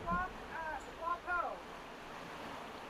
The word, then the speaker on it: Ua Pou: choices and and it's called uh it's it's pronounced wapo.